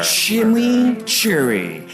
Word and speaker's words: chimichurri: Chimichurri. That's how you pronounce it. Let it roll off your tongue.